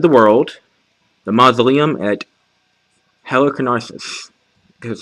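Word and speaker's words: Halicarnassus: a wonders of the world the mausoleum at heliconics that's how you pronounce it these uh giant cabinet cards are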